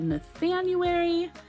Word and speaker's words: Nathanuary: And so every January I host a event called Nathanuary, rhymes with January, super clever, I know, and we talk about the works of Nathaniel Hawthorne, and there's a group read and whatever.